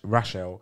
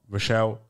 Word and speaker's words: Rachelle: it because my name's you're meant to pronounce it as rash Rachelle but I always got Rochelle or pretty much Rochelle and it's not really